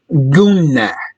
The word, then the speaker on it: Guna: This word that you see here is pronounced Guna. Guna. Guna is a grammar term. The N and the M, noon and meme, are nasal sounds. Guna. They are pronounced with a sound coming from the nose.